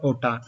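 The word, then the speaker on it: OTAN: या नाटो के फ्लैग पर एक वर्ड लिखा हुआ है ओटान। यह नाटो का फ्रेंच प्रोनाउंसिएशन है, क्योंकि नाटो की 2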